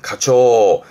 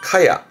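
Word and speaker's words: 蚊帳: 발음은 카초. 왜? 음으로는 앞에 거는 모기는 카라는 뜻으로 읽은 건데요. 보통은 카추보다는 카야. 모기장은 카야 카야로 줄었습니다.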